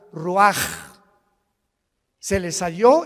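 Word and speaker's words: רוח: y exhaló Isaac el Roach así como suena se pronuncia la c en hebreo como J raj se les só y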